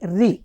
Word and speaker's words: ऋ: है तो क्या कह जैसे हिंदी के तेलुगु के अक्षरों में रु जो होता है रु कहलाता है लेकिन वो हिंदी में होता है ऋ जी तो जब हम जब वो सुनता है जो सुनता है वही बोलता है तो क्या करना है हमें जो अध्यापकों को पढ़ाते समय नहीं उसे बताना है कि रू नहीं इसे ऋ का उच्चारण किया जाता है।